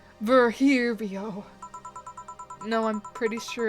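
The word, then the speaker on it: Virgilio: Virgilino. We meet again. Bartender. You look winded. Virgilino. It's pronounced Verhirio.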